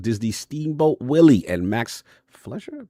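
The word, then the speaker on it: Fleischer: The 1930s animation style of Walt Disney Steamboat Willie and Max Flesher. Pronounc that right. Fumi games. Flesher.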